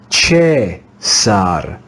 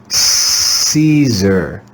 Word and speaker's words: Caesar: in ecclesiastical latin we would read this name as che sar che sar in english we read this word with the soft english c sound caesar caesar you may remember that